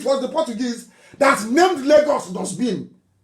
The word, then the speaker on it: Lagos: And it was the Portuguese that named Lagos dustbin. Lahos. Lahos, that's the correct pronunciation.